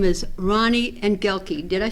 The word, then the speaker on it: Engelke: His name is Ronny Engelke. Did I say it right? Engelke.